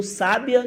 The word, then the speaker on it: sábia: E no sábia, que é uma pessoa inteligente, uma pessoa sábia, você enxerga o acento aí nesse primeiro sa, a sílaba acentuada, né?